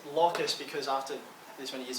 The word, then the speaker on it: locus: kind of thing um you can pronounce this lucas if you want i pronounce it locus because after this many